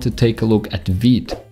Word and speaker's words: Vite: take a look at veed it's the next tool on our list vid is developed by view creator evan yuk don't call it vid because they made an extra effort to put the